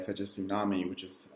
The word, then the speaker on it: tsunami: So if you see a word like such as tsunami, which is spelled, I think, TSU, we don't necessarily pronounce all of those extra consonants. We usually just say the S sound, the S sound.